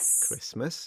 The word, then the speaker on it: Christmas: Christmas, yep. Mortgage, and chestnut. Doesn't matter how you pronounce it, you still have to pay it though.